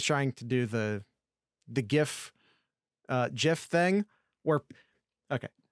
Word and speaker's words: GIF: disproving your point yes i agree it's a gift the gif yeah and if you want a soft g